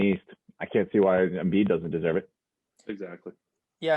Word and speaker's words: Embiid: Joel MVP Embiid. Is it a coincidence his last name rhymes with MVP?